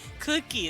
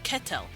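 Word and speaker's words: qetel: q e t l they just click it and like I said they don't really pronounce vowels the vowels here are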